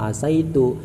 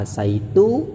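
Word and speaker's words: عَسَيْتُ: Bisa kita baca asaitu, bisa kita baca asitu, kasroh dan fathahnya sin. Tapi yang lebih baik, yang dipilih oleh ulama adalah membaca fathahnya sin, sehingga dibacanya asaitu.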